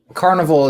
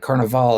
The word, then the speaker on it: Carnival: Carnival is the American way to say it. Carnival is more Italian, so I think you have Italian background.